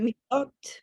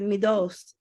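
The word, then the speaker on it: מידות: The Sephardic said midot. Midot, right? Yes. And the Ashkenazi said midos.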